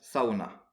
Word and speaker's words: sauna: en finlandaise c'est bien la tradition du sauna que les finlandais prononcent Saona alors le sauna vous